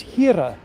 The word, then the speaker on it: Here: Afrikaans and in Afrikaans the word for God is Hira which is spelled h-e-r-e in English that's here and in Islam they